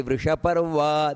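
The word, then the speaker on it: ವೃಷಪರ್ವಾ: ವೃಷಾಹಿ ವೃಷಭೋ ವಿಷ್ಣುರ್ ವೃಷಪರ್ವ ನೋಡಿ ವೃಷಪರ್ವ ದೀರ್ಘ ಬರಬೇಕು ಅಲ್ಲಿ ವೃಷಪರ್ವ ವೃಷೋದರಹ ವರ್ಧನೋ ಮಹಾಪ್ರಾಣ ವರ್ಧ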